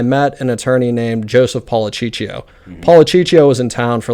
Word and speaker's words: Policiccio: And while I was there, I met an attorney named Joseph Policiccio. Policiccio was in town for like 40 years. I'm glad you pronounced his last name because I read it on your...